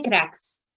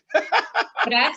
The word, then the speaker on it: Graz: Yo estoy en Crax. Ok, se lo vamos a dejar aquí abajo. Se lo vamos a dejar aquí abajo cómo se escribe. Crax es G-R-A-Z, Crax.